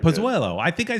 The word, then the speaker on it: Pozuelo: Just call him Pause, like Richard Greenberg. Yeah, Pozuelo.